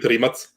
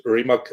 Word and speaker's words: Rimac: rimac uh yeah or we call it rematch but in english you usually pronounce it it's it's reemac electric supercars factory right